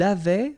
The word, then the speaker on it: avait: Il avait, final T not pronounced.